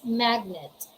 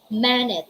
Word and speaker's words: magnet: We have the words magnet. Although letter G comes before letter N, that rule for the silent letter G is not applicable because these are the exceptions. All right, these words are exempted to that rule. We don't say manet, we don't say in